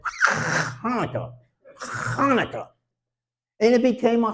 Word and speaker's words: Hanukkah: pronunciation of the word Hanukkah. Do you all know what a hawker is? Okay, a hawker is and then you spit it out. So, I would teach these kids how to say Hanukkah.